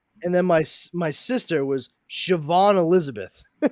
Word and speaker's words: Siobhan: That's a little harder to just Too roll many off syllables. Yeah. And then my sister was Siobhan Elizabeth.